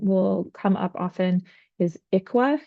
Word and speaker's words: ICWA: The other one that um will come up often is IQUA is how we pronounce um the ICWA and that refers to the Indian Child Welfare Act.